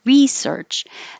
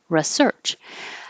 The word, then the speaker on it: research: tickets and these two there is technically a difference between the noun and the verb because nouns usually have stress on the first syllable like research and verbs usually have stress on the second syllable like research however you hear americans use both of these in both parts of speech all the time so research a researcher